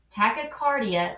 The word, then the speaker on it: tachycardia: The phonetic breakdown is tachy-cardi-a.